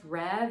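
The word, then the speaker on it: Rêve: I believe it's pronounced Rev. It's R-E-V-E, but it does have a little bit of an accent mark somewhere in there.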